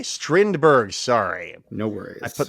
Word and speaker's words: Strindberg: Other plays performed in early 1932 included a pairing of August Strindberg's The Stronger with Jules Romaine's medical spoof Dr. Knock. Strindberg, exciting. I know Strindberg. What did I say? Strindberg.